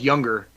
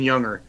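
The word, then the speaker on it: Junger: book is is Sebastian it's pronounced younger but it's it's spelled with a J so it's j n g r but it's Sebastian younger and he was he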